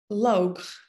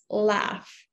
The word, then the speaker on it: laugh: to check it out live love lok i am maybe not love log no it's laugh laugh and we have another noun laughter laughter laugh laughter live love laugh be bad